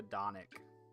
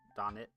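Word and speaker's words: Dončić: favorite player is Luca donic or Don Don I don't know how you pronounce that Luka donic donik or something like that the guy that just got traded oh it's pronounced Don chick okay uh yeah mean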